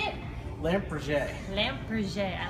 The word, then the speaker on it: Lampe Berger: do you say it lamp PR lamp PR I like saying that too L people say lamp Burger but that's I like lamp PR it sounds much more fancier for me so what